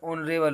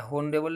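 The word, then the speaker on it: honourable: ऐसे यहाँ पर ऑनरेबल होता है, होनरेबल नहीं होता है, ऑनरेबल। एच साइलेंट है तो ओ से वो साउंड आएगी, ऑनरेबल, ओ से स्टार्ट मानिएगा आप।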